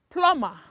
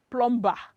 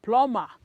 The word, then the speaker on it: plumber: course the answer is plummer plumber yes this letter b is silent you don't pronounce it as plum ba it is plummer so there is a